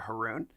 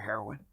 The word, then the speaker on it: Haroun: to meet you Mr Haroon um most people say Mr heroin oh the way you'll remember my name is Haroon rhymes with pepper you'll never forget it